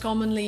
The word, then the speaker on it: commonly: The word is not pronounced commonly. Commonly, it's pronounced ca commonly. Use the short a sound like hot and stop.